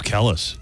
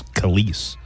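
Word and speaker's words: Kelis: all I thought her I thought it was Kellis honestly I went up this entire time thinking her she pronounced her name Callis it's kise my milkshake brings all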